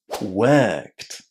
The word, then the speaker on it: worked: Talked and inside worked. We are saying the wo r in exactly the same way as the plural past form of to be where.